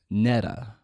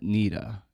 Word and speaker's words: Nidita: Like in the audio book, he pronounced my name Neta, not Nidita. You know, it's Nidita.